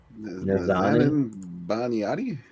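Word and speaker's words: Nazanin Boniadi: Nazanin Baniati? Thank you. I couldn't pronounce that shit.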